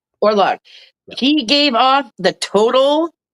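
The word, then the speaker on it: Orlok: Now, how do you pronounce the count's name again? Orlock. Orlock.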